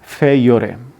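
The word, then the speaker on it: peiores: और इसको जो करेक्ट प्रोनाउंसिएशन है, लैटिन वर्ड है, उसको बोलते हैं फेयोरे।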